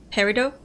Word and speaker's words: Peridot: made from is it the tea is not pronounced Peridot sometimes referred to as